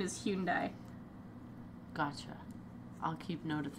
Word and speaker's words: Hyundai: it was in a human die commercial or Hyundai or however they say it yeah I've got no clue I've heard it pronounced like ten different ways if it's Japanese it's the correct pronunciation is Hyun die gotcha I'll keep note of that we have